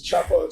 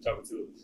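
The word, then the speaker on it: Tchoupitoulas: And if I can pronounce the name of the street they're on, I tell you to go there. It's Chapalo or something like that? Chapatulas.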